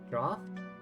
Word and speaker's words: draught: Draft? Draft? How do you pronounce that word? I feel like I once heard it pronounced like draft. I could be wrong.